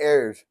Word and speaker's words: Heir: Heir is heir to the throne.